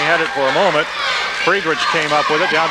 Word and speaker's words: Friedrich: Been mispronouncing his name. Number 14 is Jay Friedrich.